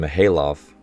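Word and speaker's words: Mikhaylov: names, such as Podlesny and Mihailov, where the K is silent.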